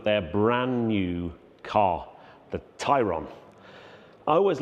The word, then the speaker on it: Tayron: pronounce the name, because in English you would probably read that and say Tayron, but it's actually Tayron. And I guess it's a little bit like Porsche Taycan.